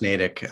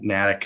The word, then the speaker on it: Natick: connected with him and yeah um yeah it's pronounced natick um but everyone calls it natick who doesn't know about it um but it's